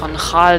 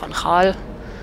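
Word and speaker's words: van Gaal: immer schön drauf achten das G wird ausgesprochen viele von euch werden wahrscheinlich den exbayern Trainer Louis vanal noch kennen da haben auch viele Louis vanal gesagt aber der hei natürlich vanal und da war auch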